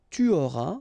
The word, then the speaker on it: tu auras: J'aurai, tu auras, final S not pronounced, il aura, elle aura,